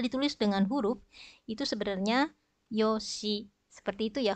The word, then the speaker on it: yoshi: Nah, apabila ditulis dengan huruf, itu sebenarnya yoshi. Seperti itu ya, hurufnya ada bunyi shi di belakang, tetapi diucapkannya yosh.